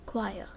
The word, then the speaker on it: choir: a group of singles called choir it is pronounced as choir a choir of singers a crowd of people